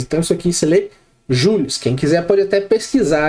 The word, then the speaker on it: Joule: Porque o sobrenome, né, do James Prescott, apesar dele ser inglês, esse sobrenome dele aqui, vinha do pai dele que era francês. Então isso aqui você lê Jules.